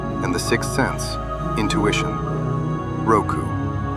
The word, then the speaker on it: 六: It is pronounced Roku and has 4 strokes.